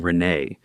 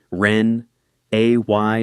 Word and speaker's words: Renee: He had a house with a two-car garage and a wife named Renee who made a point of correcting the way I said her name at Thanksgiving. Ren A Y not Ren E E.